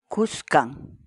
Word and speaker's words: Kuskan: series videos where we teach you how to pronounce certain words in Quechua. So our word of the day for today is Kuskan.